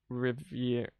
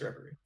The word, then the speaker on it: reverie: her out of her Revire? Revire? I don't know. Revire makes sense. Out of a Revire and pull myself out of my memories. Reverie. It's pronounced Reverie.